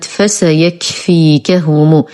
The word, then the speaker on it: فسيكفيكهم: الكلمة الأخيرة في هذا الجزء آية 137 كلمة فسيكفيكهم. هذه الكلمة سهلة وبسيطة لكنها طويلة قليلا على البعض، فممكن أن نقسم هذه الكلمة إلى قسمين لتسهل قراءتها وبالأخص للأطفال، فنقول مثلا فسيكفيكهم، فسيكفيكهم، ثم ننطق الكلمة كاملة فسيكفيكهم.